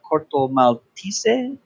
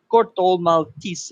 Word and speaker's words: Corto Maltese: Well, the way that they did it with the Portuguese accent was Corto Maltese.